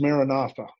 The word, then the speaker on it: Maranatha: My word is Maranatha, broken into 4 equal syllables. And it sounds like this: Ma, Ra, Na, Tha.